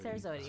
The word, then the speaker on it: Serzodi: be launching the Serzodi, I always pronounce it wrong. I say Zerzodi. Serzodi.